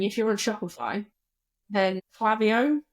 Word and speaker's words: Klaviyo: For product-based businesses, generally speaking, if you're on Shopify, then Klaviyo, it's actually pronounced Klaviyo, but they're American. I'm not. So Klaviyo is...